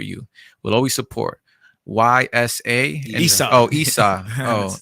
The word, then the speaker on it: Ysa: Isa. Oh, Isa. Oh, My name's Isa. spelled with a Y.